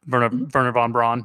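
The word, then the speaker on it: Wernher von Braun: i can say yeah anytime you see a w it's pronounced as a v yeah yeah exactly in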